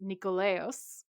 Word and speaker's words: Nikolaos: And apparently it's actually pronounced Nikolaos. And it's a reference to the goddess Nike.